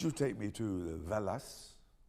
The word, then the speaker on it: Wallace: So next time you go to the Wallace collection, remember to pronounce it properly. La Valas.